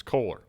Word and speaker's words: Kohler: how do you say is it cooler or cooler color cooler color color okay i got it i got i gotta bring my hick accent color it's kohler um when we we